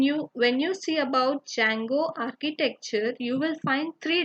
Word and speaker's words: Django: django or django but d is silent over here so we call it as django okay so here when